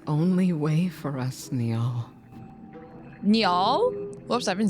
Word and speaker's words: Niall: Niall?